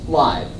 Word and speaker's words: Laib: But the correct pronunciation of my name is Laib. It's German.